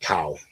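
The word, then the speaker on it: CAO: I think it's C AO, but it's pronounced cow.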